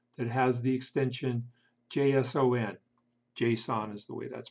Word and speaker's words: JSON: JSON is the way that's pronounced.